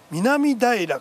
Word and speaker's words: 南平: え京王線の南平から高畑不道までの一駅なんですこれ南平と書いて南平と読むんですねどのくらい